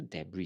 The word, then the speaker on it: debris: So debris is spelled this way. Okay, so even though there's an S behind here, it's read as debris. You will not pronounce the S, so you will not be debris.